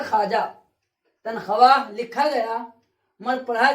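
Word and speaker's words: خواجہ: खवाजा लिखा गया मगर पढ़ा जाएगा खाजा।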